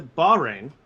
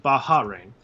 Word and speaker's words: Bahrain: uh so it's a it's a bahrain it's not baja rain um not that important